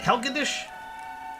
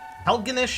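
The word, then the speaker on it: Helgenish: Helgendish? Helganish? I've been saying his name wrong the whole time.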